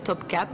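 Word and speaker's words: Topkapı: palais de top cap alors c'est un espèce de i en turc assez bizarre c'estàd un i sans point et ça se prononce e top cap donc là on voit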